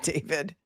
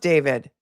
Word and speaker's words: D4vd: He pronounces it David. It's pronounced David.